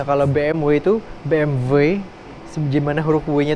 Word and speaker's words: BMW: Jadi tiga merek itu sebenarnya cara pelafalannya, kalau BMW itu BMW, gimana huruf W-nya itu kayak ada sedikit V-nya gitu.